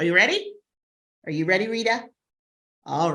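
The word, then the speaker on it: Reada: And this is Rita, and pronounced R-E-A-D-A.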